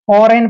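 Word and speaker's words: foreign: पहले जी आया है जी का उच्चारण हमने नहीं करना है जी साइलेंट है फरेन पढ़ेंगे सीधा फॉरेन फॉरेन जैसे विदेश होता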